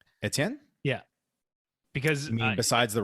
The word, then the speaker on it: Etienne: to be pronounced because we're pronouncing it the french way because we have some